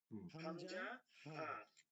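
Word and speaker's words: همزة: হচ্ছে যদি শুরু হইলে হামজা হা এই যে হামজাটা হলো না কি হবে হামজাটা হইলো না উচ্চারণটা হলো হামজাহ যা মনে আছে হাম জাহ হাম জাহ হামজাহ আচ্ছা দুই নাম্বার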